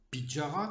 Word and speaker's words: Petyarre: Kathleen Pétiard, ou Pidjara comme on prononce là-bas, est née vers 1940.